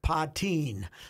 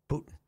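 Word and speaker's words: Puttin: TI i n uhoh so I checked she pronounces it patin so good for I congratulated on the pronunciation of patin cuz people couldn't mistake that you know you only got one extra tea in there so good for her she's a she's a ptin not a Putin puton not not even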